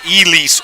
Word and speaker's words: Elise: So a correction on one of the names I've been barbarizing all weekend is Elise Richards, not Elsie Richards.